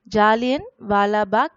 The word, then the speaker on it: Jallianwala Bagh: So pronounce the word once again. Jallianwala Bagh massacre.